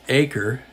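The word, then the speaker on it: Aker: bring in Jack AER who I Mis correctly pronounced AER earlier in the series it's acre so a lot of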